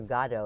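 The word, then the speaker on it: Godot: he was magnificent and waiting for gatto as we're now pronouncing it as opposed to good yeah i i was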